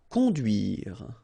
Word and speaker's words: conduire: Conduire. Okay, remember U, du, duire.